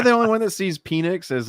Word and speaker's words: Penix: It's spelled P-E-N-I-X. Oh yeah, Penix.